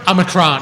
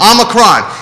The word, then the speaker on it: Omicron: If hold on, I got to get the pronunciation. Is it Omicron, Judah? Omicron. Omicron.